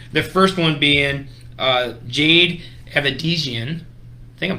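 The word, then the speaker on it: Avedisian: The first one being Jade Avedizian. I think I'm saying that right. I pronounced that wrong. Holy cow. How do you say it? Aver? Yeah. Oh, yeah, there's no R in there.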